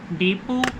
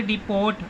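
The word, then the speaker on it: depot: D, load, to द डिपो, पीछे ना देखोगे आप टी भी लिखा होगा लेकिन टी साइलेंट है, आप उसको पढ़ोगे डिपोर्ट, डिपोर्ट नहीं होता, डेपो होता है, question mark, T silent letter है।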